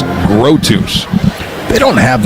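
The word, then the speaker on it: Grothues: Grotus. It's spelled G R O T H U E S. Grotus.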